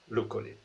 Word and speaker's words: Luccoli: And it is pronounced Luccoli.